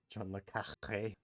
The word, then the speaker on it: le Carré: That's why you have to pronounce it John le Carré.